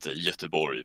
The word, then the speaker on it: Göteborg: It's we call it Göteborg, but I mean it's hard to say for other people.